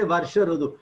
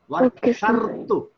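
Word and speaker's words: वर्षर्तु: Varsha Rudu you should not say. For understanding, Varsha Rudu. But Varsharthu. Varsha plus Rudu. Varsharthu is the pronunciation.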